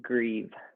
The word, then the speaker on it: Grieve: My last name is pronounced Grieve, Nicholas like you're Grieve. sad. Oh, okay. Like you're grieving.